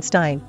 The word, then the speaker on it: Stein: whose surname ended in Stein some chose to keep the original EI pronunciation Stein While others more or less gradually switched to pronouncing it Steen for a variety of